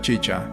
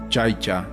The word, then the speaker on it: chicha: Dijo que la elaboración de la chicha, que él pronunciaba chaicha, una bebida alcohólica elaborada